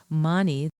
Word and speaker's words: mani: Money, two syllables, is associated with dissolving jealousy and releasing attachment to fleeting pleasures.